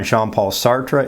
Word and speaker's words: Jean-Paul Sartre: name anyhow well uh for people who are english speakers there are usually two different ways people say it uh jean-paul sartre is one way sort of retaining